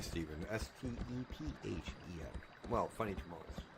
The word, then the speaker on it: Stephen: And his real name is spelled the funny way, Steven.